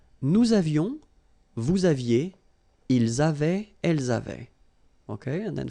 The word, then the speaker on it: avaient: J'avais, tu avais, il avait. And then you saw probably that we've got also here A-V-A-I-E-N-T, but then you pronounce it avait.